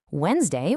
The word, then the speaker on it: Wednesday: Wednesday was originally Woden's day, naming a Norse god, but over centuries that middle D entirely disappeared. Then there's Q.